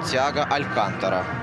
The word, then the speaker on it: Тиаго Алькантара: Ну и Василий Уткин подсказывает, что правильно говорить Тиаго Алькантара.